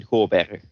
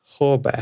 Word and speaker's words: Goorbergh: Well, in Dutch, you'd say Goorbergh. Goorbergh. But the thing is, in English, you can't pronounce the. It's a G, Yeah. but it's a. Like you guys say Goorbergh. yeah, Yeah. we said You pronounce a Goorbergh. G as a K. We pronounce it as.